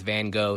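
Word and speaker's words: Van Gogh: Vincent Van, that's kind of the Dutch uh pronunciation. I'm going to stick with Van Go.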